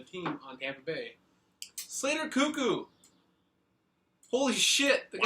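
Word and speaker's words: Koekkoek: player on the team on Tampa Bay Slater cuckoo holy the guy's cuckoo it's spelled k o e k k o e k cuckoo H that's how you pronounce it the native Windsor Ontario defenseman for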